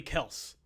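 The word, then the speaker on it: Kelce: darren waller and travis kels uh is it kellis or kelsey what do they pronounce it's apparently kels but it's else yeah everyone says kelsey but he like everybody's still saying kelsey yeah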